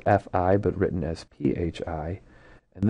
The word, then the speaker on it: phi: And then uh this new Greek symbol is called fi pronounced fi but written as phi.